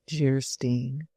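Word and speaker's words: Geierstein: Anne of Gastein, pronounced Jerstein, or the maiden of the mist by the author of Waverly.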